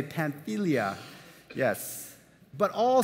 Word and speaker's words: Pamphylia: Yes, this is how you say Pamphylia.